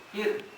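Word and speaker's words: فرعون: Berarti rinya dibaca tipis. Fir. Jangan fir. Jangan jadi tebal ya. Fir tipis.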